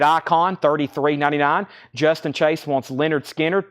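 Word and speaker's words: Lynyrd Skynyrd: $33.99 Justin Chase wants Leonard skinnard pronounce Leonard skinnard that's so to Justin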